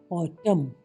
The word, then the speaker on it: autumn: AUTUMN ऑटम, पतझड़।